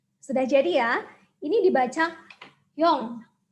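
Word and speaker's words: 영: Ini dibaca yong. Karena konsonan ing ini kalau berada di akhir suku kata atau sebagai bacim, itu bacanya adalah eng. Maka suku kata ini dibaca yong.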